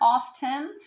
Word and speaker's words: often: and what about often now some people prefer to add the t sound in there often you can use either it doesn't make a huge